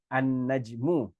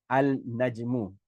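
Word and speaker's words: النجم: We would say an-najmu instead of saying al-najmu, okay, an-najmu.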